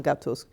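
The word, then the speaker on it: gâteau: savior arturi was Don gato's true savior Linda McCluskey Don is Italian for sir gato is French for a pastry with cream pronounced gato saborga is pronounced I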